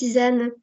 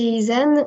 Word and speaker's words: Izan: Bonjour Isan. Bonjour. C'est bien comme ça que Du ça coup, se prononce. non, ça se prononce Isane.